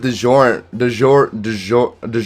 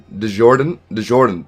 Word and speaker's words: DeJordan: I said DeJorant. Oh shoot, my bad. DeJordan. There we go. There's a second D in there.